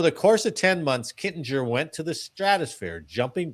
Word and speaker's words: Kittinger: Oh, Kitten. Oh, you mispronounced the name that you said. I'm sorry. I don't know what you said. So, I was hoping it was a different guy. Okay. Captain Joseph Kittinger.